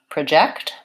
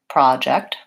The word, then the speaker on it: project: the verbs for example the word project and project for the noun I have a project I'm working on its first syllable stress project versus for the verb I need to project that on the screen its second syllable stress and this is something